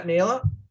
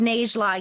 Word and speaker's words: Najla: Yeah, Naila? Thanks. It's pronounced Najla. You say the J.